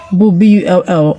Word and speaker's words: bull: all right, now the U in bull is pronounced O. It has a short U sound. This is similar to other words that contain U between two consonants, monosyllable words that contain U between two consonants, like put, pull, etc.